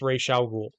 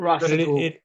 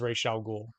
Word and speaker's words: Ra's al Ghul: They mispronounce Ra's al Ghul. Yeah, And I know it's not technically wrong, but Russell Gould. it is to me. It's Ra's.